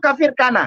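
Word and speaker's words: Kafr Kanna: Israel dua kafir Kana bacanya itu kafir Kana Oh kafir kafir Kana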